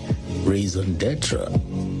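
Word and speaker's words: raison d'être: Raisendra is a French origin.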